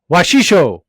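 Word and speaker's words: Wasichu: And this week's White Slur of the Week is Washisho, or Washishu, pronounced Wa-shi-shu.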